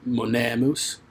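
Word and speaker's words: monēmus: what's the difference well in pronunciation in latin you hold the long vowel out twice as long as you pronounce the short vowel so you really if i was doing this correctly it would be monemous see the difference so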